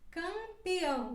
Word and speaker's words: campeão: dessa palavra homem homem e quando ela vai antes da letra p e antes da letra b ela também se pronuncia como se fosse uma ele campeão né por exemplo campeão ou angulandia ambulância agora seguimos com a